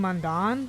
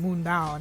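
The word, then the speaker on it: Mundaun: So I had always been saying Mandan just because I didn't know how to say it. And then you get into the game and immediately the guy in this language is like, I'm heading up to the mountain, Moon Down.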